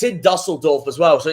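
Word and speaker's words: Düsseldorf: People call them Dusseldorf, but the actual German pronunciation is Dusseldorf. Dusseldorf.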